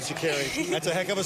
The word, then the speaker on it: Sha'Carri: Sha'Carri. Sha'Carri. We got it. Okay. She has said in the past, if you don't pronounce my name right, I'll ensure you will.